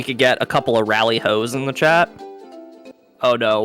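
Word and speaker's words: Rally-ho: it was lollihole that i believe was actually a mistranslation in the japanese language uh basically anything that is spelled with an l has an r sound so uh in later like releases of final fantasy games they actually corrected it to lolliho but in many uh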